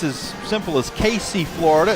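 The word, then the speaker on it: Cayce: I'm going to say it's as simple as Casey, Florida. It's spelled C-A-Y-C-E. I'm going to say Casey, Florida.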